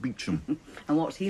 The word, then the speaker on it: Beauchamp: A lot will depend on Superintendent Beauchamp, pronounced Beecham.